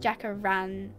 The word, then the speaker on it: jacaranda: Okay, I'm seeing like lots of jacaranda. Is that how you say it? Jacaranda.